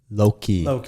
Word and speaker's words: Loki: yeah yeah uh it was with the villain loki yes okay that's how you pronounce it um so that movie came out in 2012.